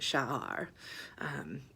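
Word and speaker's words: שער: So I saw this word, and it was 3 letters, and it's Shin, Ayin, and Resh, and you pronounce it Sha'ar.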